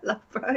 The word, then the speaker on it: Loughborough: Loughborough, yeah.